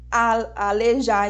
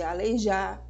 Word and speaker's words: aleijar: Pois é, são crimes como pronunciar alejar em vez de aleijar, pronunciar bandeja ao invés de bandeja, pronunciar abóboda, desculpa, em vez de abóbada, pronunciar caranguejo no lugar de caranguejo.